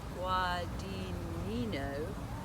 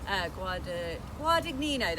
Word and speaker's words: Guadagnino: But before I talk about the prints, really important collaboration with the filmmaker and director Luca Guadagnino. That I've really butchered that, I'm so sorry. Guadagnino, there we go, so sorry Luca.